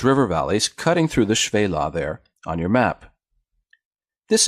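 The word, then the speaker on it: Shephelah: chef Ayla this looks like it should be pronounced chef Ayla but the first key is what's called in Hebrew 1/2 Val or short Val so it's actually pronounced shui la and this just means low hills or in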